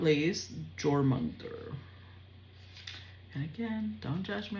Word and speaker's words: Jormungand: Okay, so it's pronounced Jormungand.